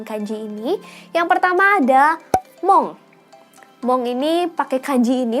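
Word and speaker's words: 門: Cara bacanya adalah mong dan pintu gerbang dalam bahasa Jepang adalah kado. Kado pendek ya, kado. Oke. Dan aku udah tulisin juga kosakata-kosakata berkaitan dengan kanji ini. Yang pertama ada mong.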